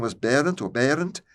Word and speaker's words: Berend: The father's name was Berend or Berend, Berend. I'm pronouncing them the Dutch way, and there's a story behind that too, because where I lived in Friesland, their home language was not Dutch.